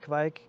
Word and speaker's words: kveik: this at the beginning i say kevik most norwegians will say it kevik there's also kind of